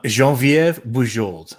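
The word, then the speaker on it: Geneviève: will help you um jean viv jean viva french canadian jean-viv okay there you go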